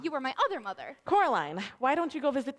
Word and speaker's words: Coraline: Coraline, why don't you go visit that actress downstairs? Miss Spink? Sorry. But you No, my said she's daughter. a dingbat. How nice to see you, Caroline. Still Coraline, Miss Spink.